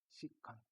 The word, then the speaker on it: 시컨트: 어떻게 표기를 할 하냐면은 s e c x고 쓰시고 얘는 시트라고 읽어 주시면 되겠습니다 시컨트 시컨트 시컨트 괜찮죠 자